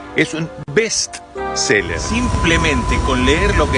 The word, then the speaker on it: bestseller: Y el libro más vendido no es un bestseller, es un bestseller.